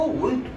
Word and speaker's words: Wundt: हिंदी में वुंड होता है, इंग्लिश में WUNDT साइलेंट होता है, इसको वुंड पढ़ते हैं।